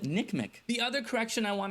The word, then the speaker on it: NCMEC: guys cor is that I've been pronouncing the acronym for the NCM ncmec in their business they just call it Nick Mii the other correction I